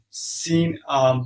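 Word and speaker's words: سين: So how you can pronounce the C? Seen, for example, when you say, "Hey, I will see you later." So seen, you had to stretch it, and you had to read from your teeth, and it's also whistling sound.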